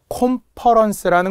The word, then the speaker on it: 콘퍼런스: 콘퍼런스라는 것도 과거 기출 문제였는데요. 보통 우리가 대규모 회의 같은 걸 뜻해. 공무원들은 콘퍼런스 이런 말 되게 많이 쓰거든요. 근데 이걸 컨퍼런스라고도 많이 하기 때문에 그래요. 오 발음이 나니까 오로 적어라.